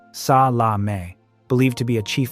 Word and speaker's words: Salameh: Red Prince, Ali Hassan Salameh, pronounced sa la may, believed to be a chief architect of the Munich massacre.